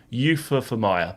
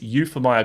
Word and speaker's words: Euphemia: I keep going to say Euphemia, but it's Euphemia.